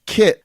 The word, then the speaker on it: Kit: That's Kit like the car, and like Ozzy.